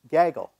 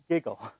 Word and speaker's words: Gaggle: ggl and it's pronounced Gaggle uh so I invented the term Gaggle Theory and I emphasize it's Gaggle as in a gaggle of geese right not giggle if you want to